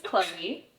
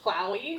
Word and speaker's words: Klaui: okay and it's so it's spelled k l a UI but pronounced chlo chlo but a lot of people will be like like Maui clowy clowy like Maui it's